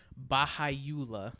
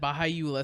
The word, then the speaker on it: Baha'u'llah: Yeah, it's actually it was founded in the 19th century by a guy named Baha'u'llah, I believe it is pronounced.